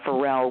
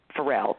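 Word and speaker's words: Pharrell: uh search Happy by farel Williams and his name his first name is spelled with uh pH forel p h a a r r e l l anyway happy by forel and when you when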